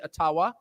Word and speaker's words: Ottawa: taken from you no matter who is in Ottawa or as we say atawa which by the way is the correct pronunciation according to my friends in the ajua